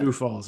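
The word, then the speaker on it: Sioux Falls: Sou Falls. Yeah. Soufall. Is that how they say that? Suf Falls. Yeah. So like half that word just is silent.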